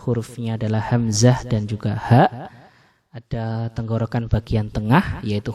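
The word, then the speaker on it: ح: Nah, huruf ha ini membacanya sangat bersih. Ya, dia tidak menggetarkan dada seperti huruf H, tapi dia tidak serak seperti huruf Kha.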